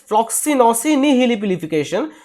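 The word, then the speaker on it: floccinaucinihilipilification: what is the pronunciation flosi nification so the pronunciation is flosi nification so what is the meaning the meaning is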